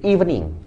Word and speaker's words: evening: Bacanya I ya, bukan E ya. Meskipun tulisannya pakai E, maaf ini kelebihan. Ya, meskipun tulisannya pakai evening, tapi bacanya pakai I, evening.